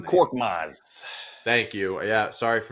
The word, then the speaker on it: Korkmaz: Not only did they trade for Buddy Hield, they got rid of Marcus Morris and Kormaz is his name. I always mispronounce his Furkan name. Korkmaz.